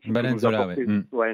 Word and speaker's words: Nzola: On a Senzola, je dis toujours comment prononcer son nom. Nzola, Nzola, voilà, au point d'appui physiquement, joueur de surface qui peut être là.